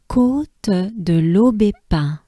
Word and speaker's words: Côte de l'Aubépin: So we have l'eau, B. So this is important because here we have the sound E. E is a sound that goes up your mouth, and it's not E, right? It's not a banana smile. You can think of E as in café, right?